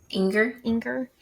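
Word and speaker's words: Enger: Inger.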